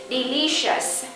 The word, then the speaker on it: delicious: ta có từ ngon Chúng ta nhấn phần thứ hai từ lý đ lý các bạn nhớ SH chúng ta công lự và chú ý cái cách viết chữ và cái cách đọc nó khác nhau các bạn chú ý ha chúng ta cũng cần nên tập viết del delicious cong lưỡi và cuối cùng nhớ x delicious very good everyone và